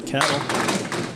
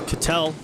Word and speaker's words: Cattel: Winner of this match will go on to face Matt Cattel. Or Cattel. Keep saying it wrong.